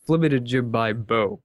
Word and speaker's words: flibitijibibo: with the official pronunciation the full pronunciation of my name is fit a jib by B um I usually just go with flibbit because it's more informal anyway uh but